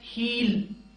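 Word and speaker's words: he'll: ही इज ही will ही will की construction है हील जैसे कि आप वो चप्पल की हील कहते हैं ना उसी तरह से हील future tense ही will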